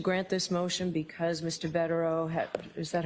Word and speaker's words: Bederow: Bederow, is that how you pronounce his name?